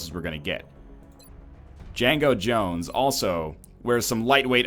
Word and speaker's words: Django: We're going to have Django Jones. The D is silent.